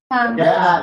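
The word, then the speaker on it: جَاءَ: Jaa itu adalah mat wajib. Nanti kalau nggak bisa dilihat nanti suruh mama mat tabii. Cara membacanya adalah dipanjangkan 2 harokat.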